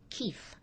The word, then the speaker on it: Keith: yes yeah but there's it's ertha keefe k-e-i-t-h so the pronunciation of the name through centuries obviously became kit but it's supposedly a